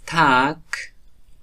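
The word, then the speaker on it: Tag: و یک استثناء هم وجود داره که واژه تک حرف آخرش که گی است که تلفظ میشه. ما شما ایره تک میگیم. تک یعنی روز. تک تگ نمیگیم تک میگیم که آخرش کاف تلفظ شده.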